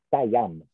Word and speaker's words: Siam: La parola sostanzialmente è corretta, ma è completamente sbagliata nella pronuncia, perché sono stati gli inglesi per primi a dare una scrittura alla parola. Ok. Adesso ci arrivo. Si dice Siam.